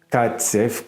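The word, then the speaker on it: Kacew: voir à quel point roman catsf roman catsey comme tu m'as pris le prononcer alias Romain Gary elle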